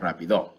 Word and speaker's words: rápido: I didn't mention earlier that rápido, I fixed it for me, has an accent on the A.